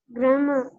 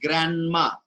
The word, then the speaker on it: grammar: general will be pronounced grandma right so we call our granny as grandma correct similarly is gramma not grandma is drama very good